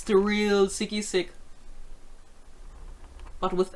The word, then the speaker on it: SigiSig: you can find me it's it's the real sicky-sick but with s III say it like a